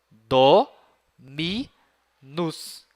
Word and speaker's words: Dominus: Por exemplo, essa primeira palavrinha aí, ela tem 3 sílabas. Dominus. Olhem só. Do, mi, nus.